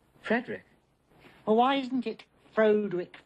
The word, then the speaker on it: Frederick: Frederick frogenstein the Frankenstein Frankenstein you're putting me on no it's pronounced Frankenstein do you also say Frode Rick no Frederick why isn't it Frode